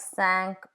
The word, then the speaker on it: cinq: Final consonants are pronounced in numbers, like cinq or six.